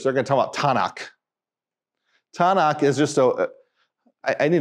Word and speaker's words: Tanakh: The Hebrews wouldn't pronounce it tunk. They pronounce it Tanakh.